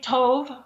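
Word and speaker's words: טוב: but it's t-o-w-b or t-o-b-e i don't know if it's tob or tobe uh exactly how to pronounce that most people say tov or toe okay okay um but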